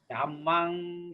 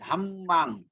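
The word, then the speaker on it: Dhammaṃ: Dhammang Saranang Gacchami. Sanghang Saranang Gacchami. Remember, M with the dot is pronounced as NG. Okay? And the double consonant Gacchami. Buddhang Dhammang.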